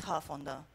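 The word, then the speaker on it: Hough: The male life expectancy is 24 years difference, which means that in Huff, it's pronounced Huff on your right side, is the one where people live up to 64 years of age, male particularly.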